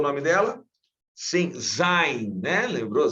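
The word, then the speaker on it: זין: Sim, Zain, né? Lembrou? Zain.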